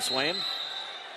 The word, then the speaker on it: Swaim: Svim? Remember Dale Swaim that used to play baseball for the Brewers, and it's spelled the same way. So on mat 1, Schuldis and Swaim.